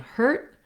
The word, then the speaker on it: hurt: phenomenon that we use a longer vowel before the voiced sound like the d and a shorter vowel between um before a voiceless sound like the t so trying hurt heard is how you're